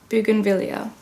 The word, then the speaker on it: bougainvillea: the tropics wow cool let's see how to pronounce it Bougainvillea okay in Falls Landing Florida a place of